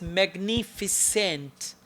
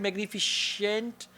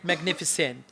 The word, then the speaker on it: magnificent: say minettes okay then the word is magnificent not magnific you said magnificient or something like that okay somehow magnificient is also right but actually we call it magnificent uh then you said